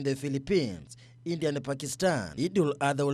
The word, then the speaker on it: Eid al-Adha: Pronunciation. That was good, Eid al-Adha.